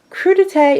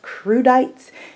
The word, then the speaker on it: crudité: it's spelled CR u di te so I pronounced just the way it sounded so I will call it crudités and you know just to save anyone any